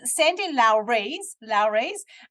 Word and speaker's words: Sandy Lowres: Sandy Lowres, which I mispronounced in the introduction, so that's how you meant to pronounce her name, by the way.